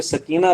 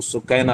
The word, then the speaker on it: سکینہ: لخت جگر حضرت سکینہ، ہمارے ہاں اردو میں سکینہ لفظ پڑھا جاتا ہے، یہ درست تلفظ نہیں ہے، جو عربی تلفظ ہے اور صحیح تلفظ وہ سکینہ ہے۔ حضرت سکینہ کا